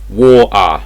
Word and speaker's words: water: you some examples so in regular English you'd say water little um things like this in English this will be W little so we're basically not pronouncing the T at all so it's not war T it's war war there's basically no T